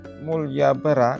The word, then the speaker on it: Malioboro: keberkahan Amin jalan mulyabara karena pengaruh pengucapan orang Jawa huruf a dibaca o sehingga sampai sekarang dikenal menjadi Jalan malyoboro Mul bar dari bahas